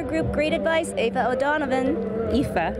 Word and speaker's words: Aoife: Aoife. It's okay. That's the story of my life. My name is Aoife, spelled with an A.